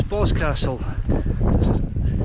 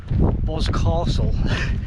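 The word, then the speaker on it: Boscastle: and asked the the last so how just pronounce this place she says BOS Castle so it's not BOS Castle she says oh God no she hears a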